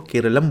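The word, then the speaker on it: കേരളം: यह change Malayalam pronunciation के अनुसार करेक्ट स्पेलिंग के लिए किया जा रहा है। मलयालम प्रोनंसिएशन में केरला को केरलम बोला जाता है।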